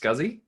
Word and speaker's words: SCSI: to talk about uh what you're calling scsi that's typically pronounced scuzzy so the scuzzy standard